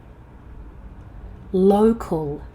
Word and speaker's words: local: Check your O vow. Low. Local.